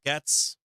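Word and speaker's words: Gaetz: side of 600 million is it Gates am I pronouncing it wrong gates2 is it Matt Gates Matt gats Matt gats is it pronounced Gates Matt gates gates I got it right Gates I've heard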